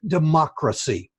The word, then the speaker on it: democracy: You talked about democracy, I believe, and it's pronounced with an emphasis on the second syllable, democracy.